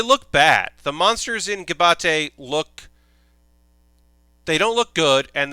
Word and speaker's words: Gibiate: So it's not GIBATE. It's GIBIATE. GIBIATE.